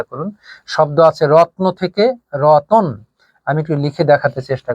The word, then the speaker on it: রতন: যখন আমরা শব্দ লিখেছিলাম রত্ন, তখন রত্ন শব্দের উচ্চারণ কিন্তু ছিল এমন যে রত্ন, আর এখান থেকে শব্দ যখন হয়েছে রতন, তখন কিন্তু এর উচ্চারণ হয়ে গেছে রতন।